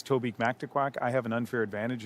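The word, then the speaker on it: Mactaquac: It's Toby Mactquack. I have an unfair advantage in pronouncing that riding name because about 45 years ago, I went on a school trip to the Mctaquac Dam.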